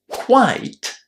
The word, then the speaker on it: quite: Quiet ends in T. Quite ends in E. And that change in the position of that E basically influences how we pronounce the word. So, quite, quiet.